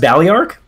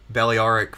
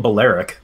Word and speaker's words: Balearic: trying to recruit bailly arc slingers oh it's pronounced ballyark balearic from the islands yeah daliaric okay i always call them baleric all right i'm pretty sure it's ballyark oh yeah i'm not disputing man i just